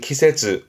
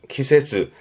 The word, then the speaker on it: 季節: 발음은 키세즈, 키세즈.